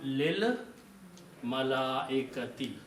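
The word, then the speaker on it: للملائكة: When you read them together, this alif will not be pronounced and it will become lil malaikati.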